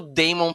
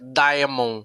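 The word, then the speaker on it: Daemon: que o Demon Targaryen é a forma de se falar É diamon né de se escrever Damon a escrita né é escrita a gente acaba falando de mon e não tem nada a ver com o demônio é não definitivamente nada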